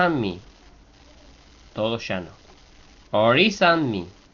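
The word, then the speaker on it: Orí: Ori. Solo la i de or lleva acento.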